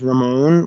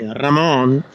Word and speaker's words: Ramon: decide on your own usually I say my name is Ramon when I speak in English as Spanish people or Latin American people say Ramon yeah exactly that's that's